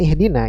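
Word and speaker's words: اهدنا: yang keen ini maka Hamzah wasal di sini dibaca dengan kasrah tapi kalau kita sambung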